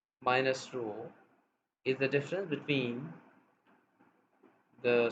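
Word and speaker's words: rho: corresponding population parameter is a Greek letter row this how we pronounce so now we are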